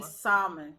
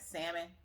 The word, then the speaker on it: salmon: it mean not uh we say salmon with l i notice i noticed a lot of people say the l is solid and it's like salmon it's salmon it's not